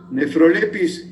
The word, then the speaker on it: Nephrolepis: Nephrolepis es PH, ¿no? F se pronuncia F en latín, pero es PH.